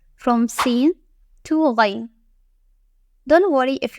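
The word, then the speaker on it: سين: The first one is Sin. It has no dots and produces a soft, continuous hissing sound. It is like the snake sound.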